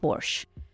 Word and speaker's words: borscht: to make Porsche so it's spelled b o r s c h t the t is salent so it's Porsche it's a soup that